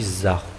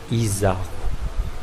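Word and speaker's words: izaho: Mais en parlant, si vous dites Zah, vous n'avez pas envie de prononcer les I, puisque ça charme mieux avec Zahu. Donc, garçon, tout comme les filles, ici, normalement, on dit Zahu. Au lieu de dire Izahu. À Tananarive, on utilise Izahu.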